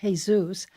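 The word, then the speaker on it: Jesús: His name is Father Jesus, that's spelled Jesus. In Spanish, it's pronounced Jesus Mariscal.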